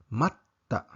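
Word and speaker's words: まった: Pangalawang ehemplo ay ang matta, matta o naghintay. Pag walang double consonant, ito ay nagiging mata na ibig sabihin ay muli o minsan pa.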